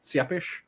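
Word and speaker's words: Țepeș: the father of vlad tapish and vlad tapish is the one that everyone knows or rather i think sora said the more proper pronunciation was seppish but vlad vlad was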